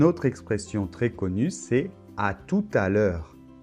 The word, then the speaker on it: à tout à l'heure: bonne et la lettre t final ne se prononcent pas non plus bonne alors une autre expression très connue c'est à tout à l'heure à tout à l'heure bon c'est peut-être un petit peu dur à